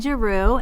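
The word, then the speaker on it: Giroux: to have a discussion my name is jaru and it's g i r o ux i spell that because it is difficult to say and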